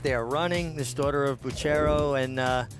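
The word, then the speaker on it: Bucchero: This daughter of Buchero and, uh, is it Buchero? I believe it's Bucro. I've heard multiple pronunciations.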